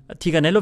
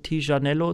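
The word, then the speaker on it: Tignanello: sieht ein bisschen aus tigernello wird oft falsche ausgesprochen da sagen oft so welche t-shirtello z.B dieser Virus das klingt irgendwie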